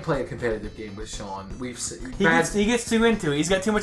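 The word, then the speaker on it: Shaun: But I hung out with Sean. It's spelled S-H-A-U-N.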